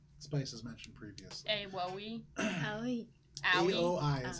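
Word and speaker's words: Aoi: Owie. Owie. A-O-I is how you spell it, Owie.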